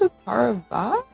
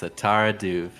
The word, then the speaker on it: Atara Duv: I think it was Atara Va? Maybe? Final answer? One? Final answer. No. No. It's Atara Duv. I'm going to avoid this one because it's spelled D-U-V without the E at the end.